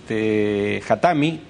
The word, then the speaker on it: Khatami: moderado como el actual Khatami. o Hatami, creo que es el acento en la I.